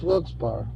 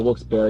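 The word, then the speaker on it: Wilkes-Barre: It's Wilspar. Wilspar. Wils Bear. Either either pronunciation, however you want to say it.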